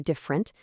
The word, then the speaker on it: different: Stop overpronouncing them. Probably becomes probably. Different turns into different. Literally collapses to literally.